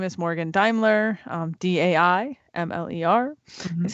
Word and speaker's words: Daimler: full name is morgan daimler um d-a-i-m-l-e-r that's how you spell it's german so nobody spells it like it's pronounced um but i'm on